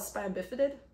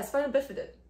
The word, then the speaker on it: spina bifida: tube defects and spina bifid oh cool i pronounce it right usually called spina bifida but oh yeah spina bifida i think i spelled i can't pronounce all